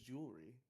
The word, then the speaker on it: jewelry: You also You don't have to pronounce the E. It's just jewelry. It's a lot better than jewelry.